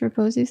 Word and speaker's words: Repossi: But talking about Repossi, do I pronounce it right? Repossi? No, it's 1P. English, Repossi.